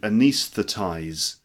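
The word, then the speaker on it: anaesthetize: nice fattest okay and the verb is to anis the ties anis the ties are nice the ties okay so the example sentence see if you can repeat this it's the job of the anesthetist to anesthetize the patients with an anaesthetic it's the job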